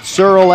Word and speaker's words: Searl: already in i said cyril as in pearl because it's spelled s-e-a-r-l and now rachel ramirez